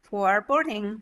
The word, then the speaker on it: foreboding: a good D here good flap D for boarding very nice boating boating boating it's going to sound just like this go down to